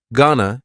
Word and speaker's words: gonna: Gonna is generally pronounced with the schwa.